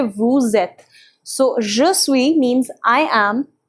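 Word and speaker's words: vous êtes: a one thing here the liaison takes place because this is a consonant and this is a vowel and we don't generally pronounce this consonant so again the concept of laser comes in so you say woo zet so joshui means i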